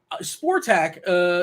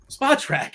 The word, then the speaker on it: Spotrac: Sportac is Spotrac? Geez, Spotrac. Is that how you pronounce it?